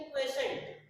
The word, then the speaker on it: quotient: QUOTIENT, QUOTIENT pronunciation is क्वेशन।